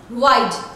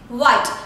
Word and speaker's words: wide: Alright, suppose if there is an English word like the sheet is wide, alright, the word is wide, W-I-D-E, but you are pronouncing it white, so meaning becomes changed, alright.